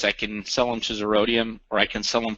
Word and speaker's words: Zerodium: As I was kind of reading some articles this morning, I stumbled upon this website, Zerodium, I believe is how it's pronounced.